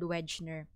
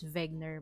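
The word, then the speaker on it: Wegener: alfred wegner or alfred wenchner he is a german scientist so people would pronounce his surname as wegner but then as long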